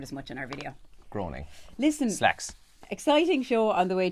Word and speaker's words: Groening: growing again it's not greening that's groaning I think it is groaning yeah it's groaning I think it is is it's groaning we've never said that word as much in our video groaning listen slacks exciting show